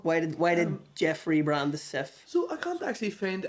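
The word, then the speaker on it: Cif: So, for example, it was called Sif in France because it was easy to say Sif, but it would have been hard for them to say Jif.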